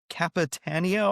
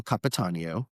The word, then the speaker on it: Capitanio: His name, I believe, is Dario Cap Capitanio, I think, if I'm pronouncing that right. His pronunciation is Dario Capatanio.